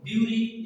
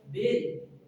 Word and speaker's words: bury: इसको हम लोग ब्यूरी या बरी भी बोल लेते हैं. It is wrong pronunciation. The right pronunciation is berry.